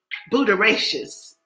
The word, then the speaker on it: Butyraceous: word for today is booteracious. Yes, that is our word for today. Our word for today is booteracious. That has 4 syllables in it.